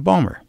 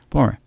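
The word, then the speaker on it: Baltimore: just drove down to Balmer that's how balore is pronounced for balem morons Balmer okay I haven't seen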